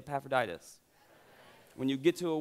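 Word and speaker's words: Epaphroditus: paul through this person named ephraidus everybody say paphroditus when you get to a word that looks like that just go with that pronunciation save us all like faith in in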